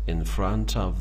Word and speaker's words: in front of: It's in front of the laptop. In front of رو تلفظ میکنن in front of. In front of یعنی در front. حرف R و T تلفظ نمیشه.